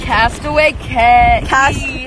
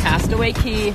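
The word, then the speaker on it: Castaway Cay: We're at Castaway K. Castaway K. Key. It's K. It's spelled K. It's pronounced key.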